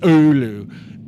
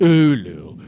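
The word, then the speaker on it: Oulu: But um I think I liked I I actually think I liked Roa more than I liked Olu. Ulu.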